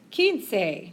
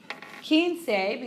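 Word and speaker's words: quince: las cuatro cuatro e king say no keen say because it's quarter past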